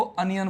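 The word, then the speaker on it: onion: इसको देखो अनियन बोलते हैं। तो शुरू में आ रहा है अ अनार वाला। अब अनियन नहीं बोलते इसको। अनियन बोलते हैं। अनियन नहीं। ओनियन नहीं बोलते इसको।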